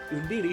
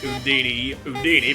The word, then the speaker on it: Undine: to get Undine, and I'm calling Undine because that's the way they pronounce her name in this game, and I've heard it said like Undine, which actually makes more sense, but Undine's what I know.